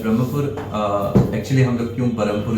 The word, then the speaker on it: Brahmapur: ब्रह्मपुर actually हम लोग क्यों बरमपुर इसको बोलते हैं? लेकिन रगारगों में फस गया है वो चीज़ है हमारा। एक्चुअली सिटी का नाम ब्रह्मपुर है। बट बरमपुर बोल ब्रिटिश नाम है।